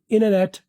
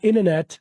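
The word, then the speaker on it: internet: इननेट इंटरनेट को क्या American वाले बोलते हैं अमेरिकन वाले वाले बोलते हैं इननेट।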